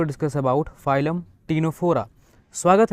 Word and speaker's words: Ctenophora: जा रहे हैं फाइलम टीनो फोरा के बारे में सी साइलेंट बाकी सब वायलेंट फाइलम टीनो फोरा एनसीआरटी